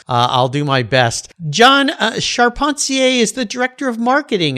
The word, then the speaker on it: Charpentier: the beginning here because when i look at that last name of yours it looks like carpenter to me but uh charpentier is the correct pronunciation right yes i as